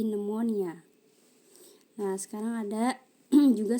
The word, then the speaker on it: pneumonia: Kalau yang ini ada juga silent P, silent PN, contohnya psychology, pneumonia, bukan pneumonia tapi pneumonia.